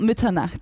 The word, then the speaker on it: Mitternacht: I was wondering if you could tell us about Mitternacht. I feel like I'm butchering that pronunciation. It was pretty good. It's called Mitternacht, so it's So close.